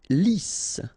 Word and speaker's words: lisse: Lisse, double S here, so it's really a strong S, lisse, okay, don't insist on the final E, lisse.